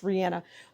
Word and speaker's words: Rihanna: And the star for Rihanna and ASAP just says that ASAP will always let Rihanna, I keep pronouncing her name wrong, it's Rihanna, will always let Rihanna be the star.